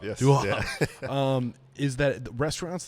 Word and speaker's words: Viaud: Viaud, yes. Viaud.